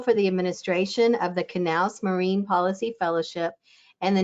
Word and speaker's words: Knauss: Today, she will be speaking about the Sea Grant Knaus Fellowship, pronounced with the K. The fellowship is named after John A. Knaus, whose dedication led to